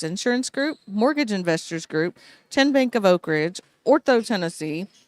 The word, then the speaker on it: TN Bank: How do you say the name? TN Bank? No. Kin Bank? Uh-uh. So what is it? 10 Bank. 10, as in Tennessee, right here where all our banking decisions are made.